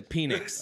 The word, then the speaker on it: Penix: I'm going to go He changed the pronunciation. To what, Chris? To Phoenix. Okay, yeah.